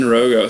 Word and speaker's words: Roggow: yourself I am we're in San Rogo Rogo see I I was hesitant to say your